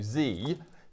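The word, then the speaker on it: Dzi: So Z, D-Z-I is how it's spelt, but it's actually pronounced Z, the D is silent.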